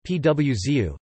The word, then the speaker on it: pãozinho: producer of these nuts, and pauzinho, pronounced PWZU, Portuguese-style French buns, were brought in by the Portuguese.